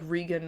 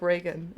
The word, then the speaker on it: Regan: you say it, because I would have said it just like Regan otherwise. But yeah. But I read it and I was like, oh, okay, so it's like Reagan.